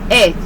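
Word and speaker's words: את: So it says here that it is pronounced as Eth, or which is ETH or AYTH, Eth, right?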